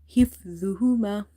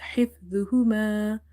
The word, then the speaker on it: حفظهما: Okay, this is hifdhuhuma. حفظهما. The is from the Lithuania letters, so you have to avoid reading it as za.